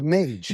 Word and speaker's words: Mage: So it's Mage. Mage, yeah. Like the like- wizard. I was about to ask, like a wizard? They say Mage, like pronounced like Mage the Wizard, but it's actually short for.